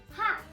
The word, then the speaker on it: हाथ: In Hindi, it is pronounced as hat, H-A-A-T-H, hat.